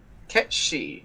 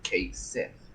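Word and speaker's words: Cait Sith: Ketshi, who they still fail to pronounce right and keep calling Kate Sith. Even after giving him a fucking Scottish accent, they still fail to do it.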